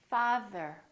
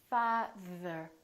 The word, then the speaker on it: father: Father. Father. And the is voiced, so there's a vibration on our vocal cords.